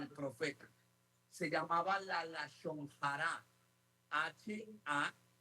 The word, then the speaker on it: lashon hara: Se llamaba la lashon hara. H-A-J-A. Lashon hara. De nuevo, H-A-J-R-A. Lashon hara. ¿Cómo se pronuncia?